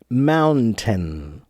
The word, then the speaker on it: mountain: it slowly it's mountain mountain but when we say it quickly that that n in the middle almost no one really pronounces that n so it's just mountain mountain mountain so really okay